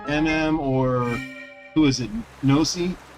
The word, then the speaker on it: Ypnosi: If MM or, who is it, Nosi, spelled with a Y, YPNOSI, if Nosi or MM